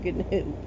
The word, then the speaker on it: gnu: it's not in gnu you do pronounce the g in gnu peter piper picked a